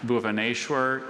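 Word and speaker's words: Bhubaneshwar: It is a South Asian geographical name, and Bhuvaneshwar is a city in eastern India south of Cuttack.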